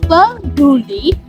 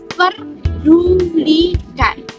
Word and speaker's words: peduli: kita bisa mendengar bahwa kata peduli kata baku yang harusnya diucapkan dengan eh ucapan peduli justru diucapkan dengan kata perdulikan jelas terdapat penambahan ponem r pada video tersebut sehingga pengucapannya menjadi perdudikan nah menurut Kamus Besar